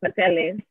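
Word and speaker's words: pasteles: But then I think I mentioned to you in the past, we never knew there was an S in the middle. We call them pateles.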